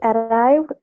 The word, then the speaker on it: arrived: Arrived, because it ends with v. Any other sound other than the t and p and sh and k and d and t, all the other sounds that we didn't mention, they end all in d sound.